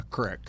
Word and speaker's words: creek: By the way, I love that you call it a crick, because thank you. Everybody in my family in the previous generations, everybody called it a crick. And I feel like we're mispronouncing it in the newer age now, people calling it a creek. We should go back to crick.